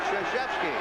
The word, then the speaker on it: Krzyzewski: It took me 2 years to learn how to pronounce it. Krzyzewski.